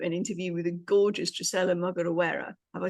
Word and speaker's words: Drocella Mugorewera: Now, today I'm delighted to share with you an interview with a gorgeous Drocella Mugorewera.